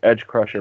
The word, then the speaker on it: Edge Crusher: I was watching Tuesday Subcast, and it's actually pronounced Edge Crusher, but that's okay.